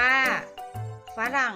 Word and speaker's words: ฝรั่ง: ว่า สมอง อ่าน ว่า สมอง ฝรั่ง อ่าน ว่า ฝรั่ง อ่ะ ตลาด อะ อ่าน ว่า ตลาด ค่ะ เรา มา ฝึก สะกด คำ ที่ มี อักษร นำ อ่าน ออก